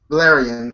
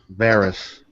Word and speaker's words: Varys: But I'm surprised we didn't talk about the spider because I know his name is Valerian. I know I said his name wrong. Varys.